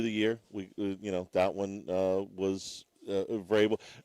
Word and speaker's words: Vrabel: That one was Vrabel. Verbal.